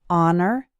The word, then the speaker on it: honor: The H is silent in the words our, honor, and air.